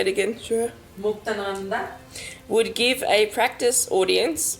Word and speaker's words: Muktananda: Muktananda.